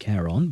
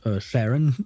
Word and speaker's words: Charon: Okay, so it is pronounced Charon, by the way, and not Sharon, I suppose.